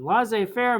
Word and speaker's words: laissez-faire: president uh they're known as a laissez-faire which is spelled l-a-i-s-s-e-z dash f-a-i-r-e and la zai faire means that they they basically don't like to